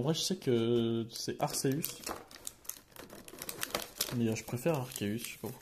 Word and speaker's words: Arceus: Avec bien sûr le Arceus.